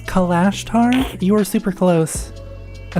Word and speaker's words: Kalashtar: race it's a race I'm pretty sure it's kalashtar you are super close I don't I've never heard anyone else pronounce it but that is how I would